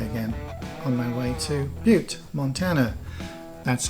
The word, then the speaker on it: Butte: onto the highway again on my way to Butte, Montana. That's how it's pronounced, Butte, not Butte.